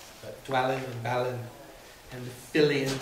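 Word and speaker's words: Fili: Killy Philly and Killy they did that in the movie did you notice that in the movie they said Philly and KY uh instead of phy and key we all have said phy and KY since we've little teeny Hobbit readers but no that's not the way Tolen pronounced it it's Philly and Killy now he does say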